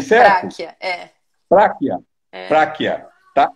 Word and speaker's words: Pracchia: Eu pronunciei certo? Práquia, Práquia.